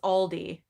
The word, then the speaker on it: Aldi: of that michael's saying i love how you pronounce aldi we pronounce it like all aldi oh aldi oh okay yeah i say aldi we have aldi